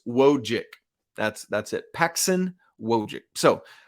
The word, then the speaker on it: Wojcik: All right, I want to dive in a little more to Paxson Wojcik, which, by the way, I've been pronouncing that C, Wojcik. It's just Wojcik.